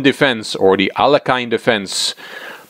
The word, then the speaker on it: Alekhine: The Aljochin defense, or the Alekhine defense. It's a hard name to pronounce, but I've learned from a Russian grandmaster that you should say Aljochin, so that's what I'm trying to do.